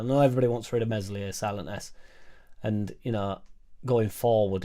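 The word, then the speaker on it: Meslier: nine he didn't mention mesli silent s because you know he's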